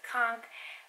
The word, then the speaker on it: conch: can actually pronounce conch some people say con some people like to say conch I chose conch because